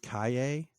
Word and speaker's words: Calle: Then Sasha, I've heard her name pronounced Kaye. I'm not really sure how you get that from Calle. It's the sound that the double L makes in like Spanish or other South American languages.